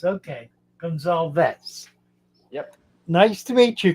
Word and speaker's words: Gonzalez: close say your name for me uh it's pronounced Gonzales oh Gonzalez okay Gonzalez yep nice to meet you Chris yes I